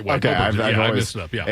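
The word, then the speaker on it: Åberg: over Justin Rose and Tommy Fleetwood, but Ludwig Oberg. Oberg. I've heard Oberg. You're right. Oberg's right. Okay, Oberg.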